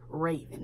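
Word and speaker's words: Rayven: Raven, who is Karen and Ray's daughter, and they spell her name R-A-Y-V-E-N. Raven.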